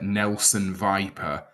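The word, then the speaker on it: Nelson Weiper: What I will also say, it's spelled differently, but pronounced the same. That Germany's striker Nelson Viper is a truly superb name, isn't it?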